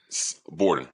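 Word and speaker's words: Borden: Bordon.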